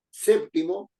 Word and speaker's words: séptimo: llevar acento en d séptimo es una palabra esdrújula y tiene que llevar su acento en SEP en la sílaba SEP que es la anterior a la penúltima es una palabra también